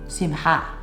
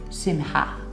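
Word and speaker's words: שמחה: And if you want to pronounce it right, it's Simcha. Simcha.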